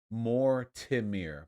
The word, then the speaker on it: Mortimer: very kind five bucks my name is pronounced more tim meer by the way mortimer gotcha thank you guilty